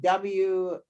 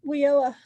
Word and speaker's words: WIOA: And am I saying it right, Kathleen? WYOA? Oh, WIOA. WIOA.